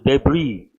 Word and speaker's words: debris: write the word essay silent how do you pronounce his debris as he is silent write the word deeply small parts we use the word debris but large Parts wreckage then have you copied